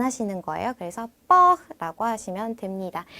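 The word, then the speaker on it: porc: 기법을 라고 합니다 뒤 a 씨 영화 lc 발음은 안 하시는 거예요 그래서 뻑 라고 하시면 됩니다 첫 마지막 닭고기 우리 치느님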